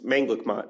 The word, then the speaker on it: Manglicmot: oh anything you want it's mangat is how you say it but people say it